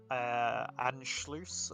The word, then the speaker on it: Anschluss: So there is what's the Anschluss, I believe it's pronounced, which refers to like that like the German and Austria kind of thing.